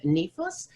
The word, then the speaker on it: NIFOS: NIFOS is an acronym from the National Initiative for Open Science, and the correct pronunciation is NIFOS.